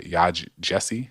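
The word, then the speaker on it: Yaa Gyasi: shaping our current, political landscape, is Homegoing by Yaj Jesse. I'm not sure, but it's spelled Yaa, and the last name is Gyasi.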